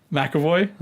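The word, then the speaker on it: McAvoy: that it's Mick oh wait make a boy MacAvoy exactly what's the process our I do think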